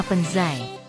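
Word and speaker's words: 盆栽: hachiwe atau istilah lain diganti namanya menjadi bonsai pengucapan Jepang dari istilah Cina penzai pengucapan Jepang dari istilah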